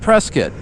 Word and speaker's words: Prescott: Hence, I call it Preskitt. I think that's respectful. You refer to the name as the name of what the locals call it.